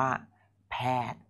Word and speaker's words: แพทย์: สวิตซ์ ต่อ ไป ครับ เข้า ไป อ่าน ว่า แพทย์ อ่าน ว่า แพทย์ สะกด ครับ พอ แอร์ แพทย์ รวม เป็น แพทย์